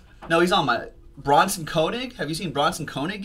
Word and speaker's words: Koenig: I know some people who pronounce it Koenig, but I guess he pronounces it Koenig.